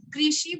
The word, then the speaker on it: कृषि: हाँ देखिए, उसमें आप रू का उच्चारण र का बराबर उच्चारण करेंगे। जीभ कहाँ पर आपकी जाएगी? मूर्धा में जाएगी। र रु रु ऐसा आप बहेंगे तो कृषि। आपकी जीभ को देखिए, आपको उच्चारण बिल्कुल अच्छी तरह से आ जाएगा।